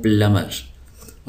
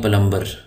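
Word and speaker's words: plumber: वाला पल यह ब यहां पर साइलेंट है तो इसको हम पढ़ते हैं प्लमर उर्दू में जो है आपने देखा होगा उर्दू में हम इसको लिखते हैं पलंबर तो ये लफ्ज गलत है बी साइलेंट है बी साइलेंट है इसको हम लिखेंगे प्लमर अब उर्दू में एक गलत लज मशहूर हो गया है लेकिन बहरहाल वो गलती है सही लफ्ज है प्लमर प्लमर कहते हैं वो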